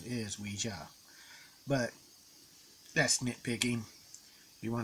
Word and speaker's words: Ouija: actual board game actually it's not the actual pronunciation is Ouija but that's nitpicking you want to call it Ouija go for it and there is I have